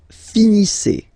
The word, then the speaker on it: finissez: Vous finissez. Vous finissez. Okay, EZ at the end gives you the sound E.